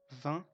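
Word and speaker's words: vingt: called, me, Japon, Japan, 20, and we don't pronounce neither G nor T, 20 means 20, 12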